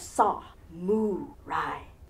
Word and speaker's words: samurai: sandwich on rye bread if you think of it and break it down into those three syllables you have saw Moon Rai spread the gospel of